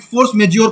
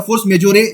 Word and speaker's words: force majeure: Goods है, उसमें एक फोर्स मेज्योर क्लॉज है। फोर्स मेज्योर या फोर्स मेजोरे जो जैसे ही प्रोनाउंस करते हो, ये फ्रांसीसी शब्द है, इसका मतलब वही